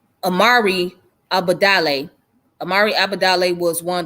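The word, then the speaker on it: Imari Obadele: and it was founded by the brother named Arami how do you say his name? Hold on. It's Amari Abadale.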